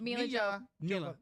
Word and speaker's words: Milla: Milla Jovovich is... I butchered it.